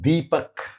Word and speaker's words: Deepak: But comparing Deepak, dental da, to a word like digital, English word, retroflex D, helps.